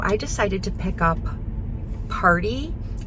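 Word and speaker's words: Paaarty: And so I decided to pick up Party. It's actually spelled like Party, like P-A-A-A-R-T-Y.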